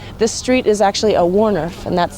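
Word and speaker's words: woonerf: street here, and this street is actually a Warniff, and that's spelled W-O-O-N-E-R-F.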